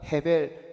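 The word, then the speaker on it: הבל: 아벨과 가인의 원 가인의 원래 히브리어 발음은 각각 헤벨 그리고 카인입니다.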